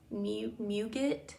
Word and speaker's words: muguet: It is pronounced muguet, and it means lily of the valley, but just in French.